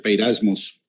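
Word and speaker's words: πειρασμός: En la Reina Valera 1960, la palabra tentación, y ahí puse la referencia, que en la concordancia Strong es la G3986, se pronuncia peirasmos, Ahí está traducido como tentación, pero la definición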